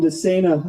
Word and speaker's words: DeSena: Moving things along here, I asked Representative Jim DeSena how to pronounce his name. He said, just think insane for running for public office. That's how you remember it.